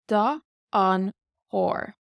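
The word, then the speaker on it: chóir: So the H here just gives it this very Celtic sound. It's softer. Da an chór. Da an chór. So you really have to exercise the back of your throat there.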